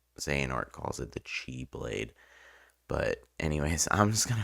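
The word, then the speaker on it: χ-blade: now I think they're supposed to be pronounced like Chi the x is like the Greek pronunciation I believe of the word if I recall correctly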